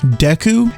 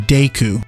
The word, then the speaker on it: Deku: We have basically two different canonical pronunciations, Deku and Deku.